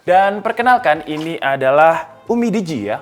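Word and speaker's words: UMIDIGI: kemudian ada Redmi 9 dan Perkenalkan ini adalah Umi Digi ya bacanya Umi Digi ini salah satunya Hero mobile Legends Nah untuk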